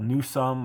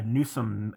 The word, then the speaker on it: Newsome: uh many other variants i think they're all pronounced newsome but they're spelled in many different ways so there in england there's a township there that's called newsome i think n-e-w-s-o-s-h-o-l-m-e and